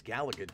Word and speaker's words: Galaga: was old than me who pronounced it Galaga just drove me absolutely insane it's Galaga dude you want to play